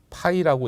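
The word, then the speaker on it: φ: 요 글자도 이제 파이라고 읽으시면 돼.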